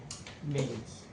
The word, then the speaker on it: Mains: Mains voltage, not main voltage. Because I know you cannot say it properly. Mains voltage, you cannot say it properly. Mains. With the S.